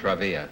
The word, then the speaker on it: Travilla: Travilla is the way you pronounce it? Travilla.